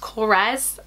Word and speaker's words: Korres: went to Greece and it's from grace it's pronounced Korres I already know smells amazing so they have